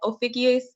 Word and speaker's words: Ophiuchus: And another thing too about astrologers that I've noticed about getting into sidereal astrology is some websites will have Ophiuchus. Oh, and yeah, that's how you pronounce it too.